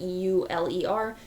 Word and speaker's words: Euler: spelled like maybe Euler or something like that e-u-l-e-r but it is pronounced Euler and named after very famous mathematician